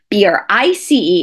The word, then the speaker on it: Brice: Now, typically, Bryce is spelled B-R-Y-C-E. It's Scottish. However, B-R-I-C-E is French. It's Brice.